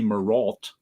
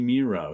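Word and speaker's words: Mireault: It took me till 2 years ago to know how to pronounce Bernie Miro's name, which I always said Bernie Mirault. But it rhymes with zero, so it's Bernie Miro.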